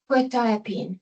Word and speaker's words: Quetiapine: I do Google how to pronounce it. Quetiapine is how it says.